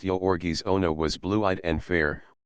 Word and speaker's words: Jurgis: and the giant hands one pronounced yorgi Ono was blue-eyed and